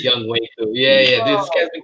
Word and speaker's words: Younghoe Koo: And I've been mispronouncing his name the whole season, too. Been calling him Younghoe Koo. Young. yeah. Young Wei. It's Young Wei Koo.